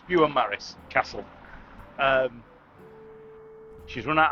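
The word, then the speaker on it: Beaumaris: is it bu bont I don't want to pronounce it wrong do it say there it's bu Maris Castle um she's run out of maps to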